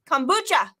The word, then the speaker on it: kombucha: Kombucha. So it's, okay. Your O sounds like a U, though. Is that how you pronounce it?